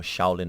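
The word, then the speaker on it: 少林: Siulam is the Cantonese pronunciation, and Shaolin is the more commonly heard one in the West.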